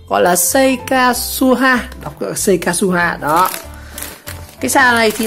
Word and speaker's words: Seikatsuha: Gọi là Seikasuha, đọc là Seikasuha đó.